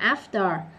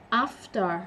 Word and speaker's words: after: Rồi, tóm lại, cái chữ after này có hai cách đọc. Trinh thì sẽ đọc là after anh Mỹ, còn anh nó sẽ là after, hơi co cái miệng vô after như nãy á.